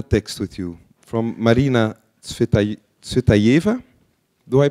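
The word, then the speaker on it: Цветаева: And you brought a text with you from Marina Tsvetaeva. Do I pronounce that right? Tsvetaeva.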